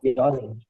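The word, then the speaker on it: よにん: Similarly, yonin mein like yon n is not pronounced. The last n is not pronounced. So Yonin.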